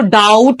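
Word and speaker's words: doubt: next one इज डाउट डाउट के अंदर always remember कि बी जो है ये साइलेंट है ओके इसको डाउट पढ़ना है डाउट the fifth one इज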